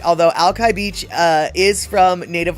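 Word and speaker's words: Alki: Uh, the way you're supposed to say it is, uh, ali, right? Um, but ali sounds remarkably like he's an alcoholic. He's an ali, right?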